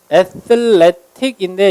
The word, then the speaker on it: athletic: 자, 운동선수의 형용사가 athletic인데 미국 사람은 강세가 이음절에 있는데 얘를 이렇게 발음하죠. T 발음을 water 할 때 water 하는 것처럼 발음을 굴려서 athletic.